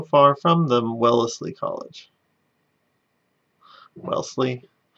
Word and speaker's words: Wellesley: from the wellesley college wellesley well leslie i always pronounce extra extra syllables than i need to especially for all these new england towns so we've got wellesley